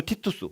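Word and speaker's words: Titus: 그 아들 그러니까이 사람도 티투스 우리가 이제 우리가 성경에 어 디모데 전후서 있고 디도서 있잖아요. 디도 디도 그게 티토스거든요. 이름이 똑같아요. 사실은 이게 그러니까 성경 용어로는 디도인데 영어식 발음으로 하면 티투스가 되는 거예요.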